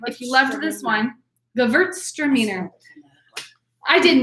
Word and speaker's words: Gewürztraminer: Number 2 is, in fact, undoubtedly, without question, a Gewürztraminer. This is Gewürztraminer. So that's how it's pronounced. Everyone in your living room, say it along with me, please. The W is a V, so it's Gewürztraminer.